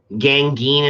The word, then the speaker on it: Gangeen: Gangeen is how phonetically you would say it. Gangeen. It rhymes with apocalypse.